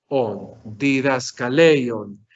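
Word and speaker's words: διδασκαλεῖον: Di, da, ska, ley, on. He separado estas dos porque aquí hay un hiato, como nosotros lo sabemos. ¿Cuántas sílabas tenemos? Tenemos 1, 2, 3, 4, 5 sílabas. ¿Dónde está el acento? El acento está en la penúltima sílaba.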